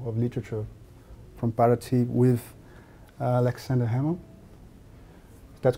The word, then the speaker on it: Aleksandar Hemon: We are here live from Paraty, the 11th FLIP, International Festival of Literature from Paraty with Aleksandar Hemon. That's correct, the pronunciation?